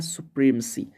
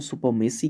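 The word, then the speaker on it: supremacy: फिर एक वर्ड आया है सुप्रीमसी। अक्सर लोग हमारे यहाँ इसको सुपरमेसी कहते हैं, लेकिन करेक्ट प्रोनाउंसिएशन होता है सुप्रीमसी।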